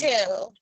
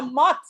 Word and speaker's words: motel: So you have to draw the line after the vowel. So that syllable, M-O, will be now an open syllable, and the vowel is going to be long, and it's going to say its own name.